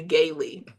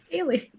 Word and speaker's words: Haley: her house, I said, they called you Gailey. Haley. Yeah, I see that. I was trying to mentally think when you spelled it how that would be pronounced wrong, and that's it. Gailey. I was sobbing. And then she told me one day she went in there and they just said gal. They're Yeah, like, gal. I man.